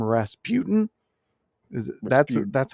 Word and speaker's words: Rasputin: Rasputin is that's that's how you say it, right?